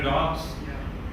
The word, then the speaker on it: dogs: word dogs, you know dogs? Yeah. It should produce a vibrating effect. If you put your fingers here and say dogs, if it does not vibrate, the pronunciation is incorrect.